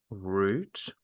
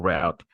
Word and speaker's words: route: So let's look at the word uh, route or route. Some people choose to say route as in as in ROOT. That's how they pronounce it. Or route as in ROUTE.